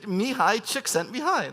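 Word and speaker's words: Mihaly Csikszentmihalyi: One of my favorite creativity researchers is, does anyone know how to pronounce this guy's name? Yes, you're right. Mihai Csikszentmihalyi.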